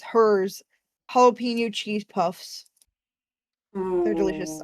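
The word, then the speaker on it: Herr's: It's spelled HERRS. It's hers jalapeno cheese puffs.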